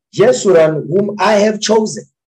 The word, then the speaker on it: Yeshua: upright one jesus jesus it says jeshua that's why how we pronounce it in hebrew because obviously that's just ebonics it says yeshua and whom i have